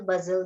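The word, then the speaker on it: bustle: When you गो टू the market you will see हजल बजल there. हजल बजल. सो टी is silent है.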